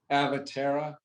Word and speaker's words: Avatara: pronounce the name of that company again and spell it avatara a-v-a-t-a-r-a okay avatara they're going to be on